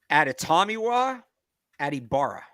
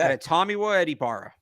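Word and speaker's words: Adetomiwa Adebawore: Meanwhile, this kid, like, we're gonna have to learn how to pronounce this because everything about his game screams Patriot. Adetomawa Adibara. Okay. Adetomawa Adibara.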